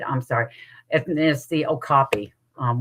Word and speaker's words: okapi: And there's the okopy. Um, which the longest time I pronounced it wrong because it looks like it says okapi because they have zebra legs, a donkey body, and a giraffe head.